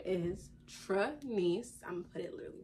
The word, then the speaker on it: Trenyce: of my not meaning of my name and pronunciation so the me my name is Tranice I'm gonna put it literally right here for